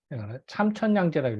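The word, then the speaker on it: 參天兩地: 요럴 때는 이게 3이 아니라 참을 있습니다. 참천양제라고 읽거든요.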